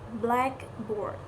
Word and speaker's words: blackboard: Compound nouns usually receive primary stress on the first word, like blackboard means a single compound word, a blackboard. Adjective plus noun phrases tend to stress the noun blackboard, blackboard, the phrase a